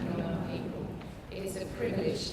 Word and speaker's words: Noongar: The word beginning with W there is pronounced Wajak, and the N word is pronounced Noongar.